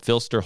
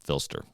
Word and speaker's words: PHLster: There is a company called Filster Holsters, and I think that's how you say it. It's PHLSTER. I'm calling them Filster.